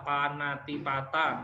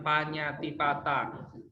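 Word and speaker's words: pāṇātipātā: Kalau Panatipata itu dibacanya biasa Panatipata, nanti bukan Panyatipata.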